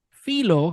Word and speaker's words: Filho: we are talking about Pedro Rodriguez filo how it's pronounced in Spanish if it's in English is Pedro Rodriguez philho the real life right